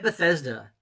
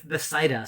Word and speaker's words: Bethsaida: God said, name it Bethesda. No, it's Bethsaida. So I get that name wrong. It's name it Bethsaida.